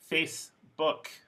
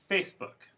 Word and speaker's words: Facebook: you to know essentially two syllable compounds don't have schwa even if they have word stress so for example facebook so facebook the stress is on the first syllable but book does not become a schwa because it's a compound compound words words with